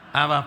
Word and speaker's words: Ab: Hijo, el cual clama: Abba, Padre. Padre se dice Ab, pero no es tan sencillo pronunciar Ab porque termina en B y entonces dice Ab.